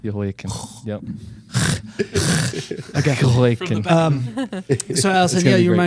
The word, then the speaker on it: Jehoiakim: The J is silent. Jehoiakim.